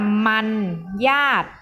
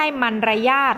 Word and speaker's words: มรรยาท: ทำ เอง ข้อ 3 มรรยาท อ่าน ว่า มัน ญาติ เรา ออก เสียง คำ นี้ ว่า มัน ญาติ นะ คะ ไม่ ใช่ มัน ร ยาศ นะ คะ มรรยาท เด็ก ๆ เขียน